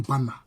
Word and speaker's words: Banda: Donc ça s'écrit avec Banda. Ça s'écrit Banda, mais ça se lit Bana.